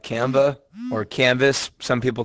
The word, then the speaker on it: Canva: The website I use is called Canva or Canvas, some people call it. It's spelled like canvas, but it's pronounced Canva.